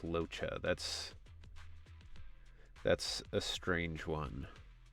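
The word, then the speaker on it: Luocha: Pronounced Locha.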